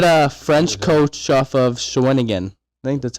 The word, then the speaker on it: Shawinigan: we had a French coach off of Shawinigan.